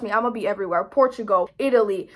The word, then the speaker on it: Portugal: Portugal, Italy. I hate when I say Portugal like that because I know how to say it in Portuguese. Portugal. I hate saying it in English.